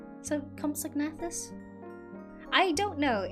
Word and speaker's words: Compsognathus: I can't pronounce it. That's why I'm calling them Compies. Compsognathus? Compsognathus? So, Compsognathus?